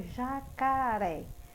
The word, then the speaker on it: jacaré: palavra oxítona e na palavra jacaré já cá ar É sim a tônica ré Ok quando eu falo